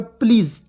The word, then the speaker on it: please: यहाँ पे देखिए PLEASE क्या हो जाएगा, प्लीज़, तो पी से आधा प, और LEA से ली, और देखिए एस से देखिए प्ली, एस का उच्चारण ज के रूप में होगा, तो प्लीज़।